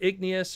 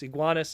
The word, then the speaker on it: Iguanus: right there, Skywarp and Iguanus, or Igneous, or however you want to pronounce it, it's Iguanus in this case, based off of the Generation 1 1988 Pretender.